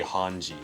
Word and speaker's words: Hange: science lady change yeah that's why i just pronounced it like that but the show they say hanji yes i don't know